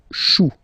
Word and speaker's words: choux: Chou, un chou, pluriel, des choux.